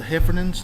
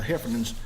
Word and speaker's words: Heffernan: The Heffernans. Did I say it right again? That's right. That's the Heffernans.